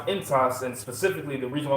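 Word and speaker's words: ἐντός: That word in the Greek is pronounced entos, and specifically the reason why I want to grab it, it says within your spirit.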